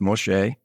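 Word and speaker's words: משה: And that name, M-S-E, or Moshe, which that is Moses, is spelled Mem, Shin, which is M, Shin, S, or S-H, if you will. And then Hey, which is E. It's pronounced Moshe.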